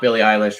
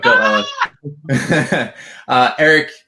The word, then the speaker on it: Bill Ellis: Bill Ellis, by the way, we got the pronunciation once and for all. We were saying it right all along. Not Billie Eilish, right? But Bill Ellis.